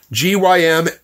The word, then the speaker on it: gymnos: Okay, first of all, the word, the Greek word there that's translated naked is gymnos, G-Y-M-N-O-S. It's pronounced gymnos.